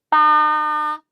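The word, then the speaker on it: 八: 빠, 빠. 읽어주시면 되고 숫자는 뭐 8, 8자 별로 어렵진 않으니까 간체자하고 같이 발음을 외워주시면 돼요.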